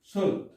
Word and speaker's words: sword: এরপরে হলো শুড। এই শুড, এখানেও কিন্তু ডাব্লিউ উচ্চারণ হয় নাই।